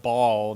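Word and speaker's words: Baal: City had their own now this is pronounced ball not bail but I could say it the other way okay they each had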